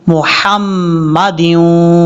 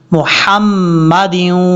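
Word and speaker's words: مُحَمَّدٍ: मुहम्मद यूँ पढ़ जाते हैं। ये बहुत लोगों में देखी है मैंने, और ये आपने तवज्जो से सीखना है। मुहम्मदिन वअला, इस तरीके से।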